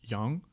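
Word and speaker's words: 羊: viande que tu vas pouvoir consommer, c'est donc yang qui veut dire le mouton, yang.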